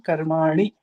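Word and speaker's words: कर्माणि: The first line, you sarvani karmani have to be saying ani, not ni.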